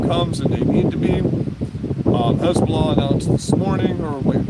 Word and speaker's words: Hezbollah: China's getting involved um Hezbollah Hezbollah spelled h e stop saying hisbah people the way you pronounce